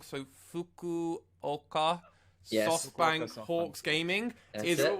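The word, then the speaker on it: Fukuoka: it's so bad that I've been pronouncing the name wrong so fuku oka yes Hawks gaming is it that's my team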